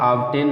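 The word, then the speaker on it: obtain: अब दोस्तों इसके कुछ एक्सेप्शन भी हैं, बी के बाद टी आने पर भी साइलेंट नहीं होता, तो उसको आप याद करिए। केवल दो ही शब्द हैं जो इसके अपवाद में आते हैं, एक है ऑब्टेन माने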